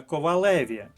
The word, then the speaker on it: ковалеві: По-перше, зверніть увагу на наголос: коваль, але ковалеві.